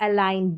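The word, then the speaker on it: align: देखिए जी और एन का कॉम्बिनेशन, साइन, डिजाइन और अलाइन, जी यहाँ पर साइलेंट है।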